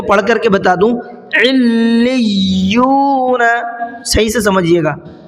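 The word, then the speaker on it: عِلِّيُّون: صحیح سے سمجھیے گا، علیون۔ تھوڑا سا میں لام پہ بھی رکا ہوں اور تھوڑا سا یا پر بھی رکا ہوں، کیوں؟ دونوں پر تشدید ہے اور دونوں کو ڈبل پڑھنا ہے۔ علیون۔ اب ہجے کر لیتے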